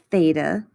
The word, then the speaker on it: theta: or 90 degrees this greek symbol here is pronounced theta so just like we often use x's in algebra we often use theta to represent angles in trig the side across